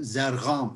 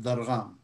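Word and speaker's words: ضرغام: That's why they call me, for example, Zargham instead of Dargham. Because they can't say.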